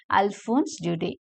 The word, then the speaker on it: Alphonse Daudet: in this new venture the last Lesson by Alphonse Judy so this is how the name should be pronounced French name Leia it should be pronounced as Alphonse Duty right uh now I am going to give